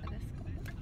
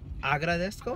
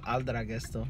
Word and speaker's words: Agradezco: How do you say it in Spanish? Agradezco. There you go. Say it again. Agradezco. Uh-huh. Oh, that was aldragesto.